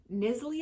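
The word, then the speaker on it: Knisley: Apple Crush by Lucy nisly I think is how you say it because it's a k n i s l e y nly and this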